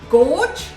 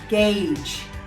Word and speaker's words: gauge: this word to yourself what did you say did you say gorge well if you did that was incorrect the correct pronunciation for this word is gauge so if you are